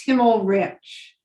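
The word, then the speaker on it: Himmelrich: the purposes of this it's himmel rich so the l is before the r um sorry but it's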